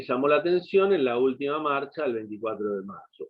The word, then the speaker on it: última: Resalta un hecho que le llamó la atención en la última marcha el 24 de marzo. Última, ¿qué le falta? Tilde, la U. Porque es, ¿recuerdan? Es esdrújula. Esdrújula. Esa es drújula, última, siempre lleva tilde.